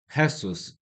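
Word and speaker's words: Jesús: I'm not sure if I'm pronouncing the name correctly cuuse in Spanish I know it's Hessus or like the J, you know, like pero eu habla un pochit de spaniol.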